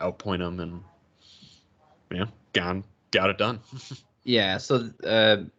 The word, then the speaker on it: Gane: had uh ufc rosenstrok versus gone i was pronouncing it incorrect when i did the preview i called him cyril ghani but it's just gone he is french um what do you think